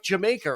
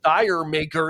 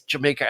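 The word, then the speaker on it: D'yer Mak'er: on the album u a song like jamaer or or dire maker if you're reading it out phonetically but um to to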